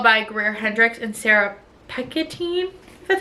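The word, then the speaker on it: Pekkanen: an anonymous Girl by Greer Hendrix and Sarah picketin that's how you say it I gave this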